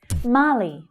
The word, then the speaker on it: Mali: Mali, Mali. So that long ah vowel sound is the stressed sound.